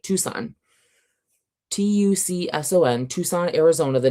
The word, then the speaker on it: Tucson: the way through because so many words were mispronounced. Even like places too, like Tucson. T U C S O N, Tucson, Arizona, the name of a city, was consistently throughout the entire book read as Tuck-sun.